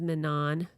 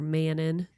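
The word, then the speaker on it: Manon: Sir, her name is Manan. I call her Mannon because I didn't listen to the book and I read it. So, I didn't know the pronunciation until it got popular.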